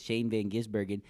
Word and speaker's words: Shane van Gisbergen: tire barrier then we got the historical with Shane Van gisbergen said it right again ow ow are we